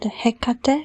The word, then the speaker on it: Hekate: I have written called Hekate or Heate. Her name is pronounced uh differently. It is correctly both ways and maybe even other ways to pronounce it.